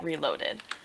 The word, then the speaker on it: Relolded: trium against Hydra VRA reled according to the way it's spelled even though people say reloaded uh so triumphant has